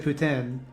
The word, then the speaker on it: poutine: poutine uh i've so i deliberately said putin because i'm told that's the correct way to say it the quebecois way to say it like you i in my day-to-day i say poutine but i thought that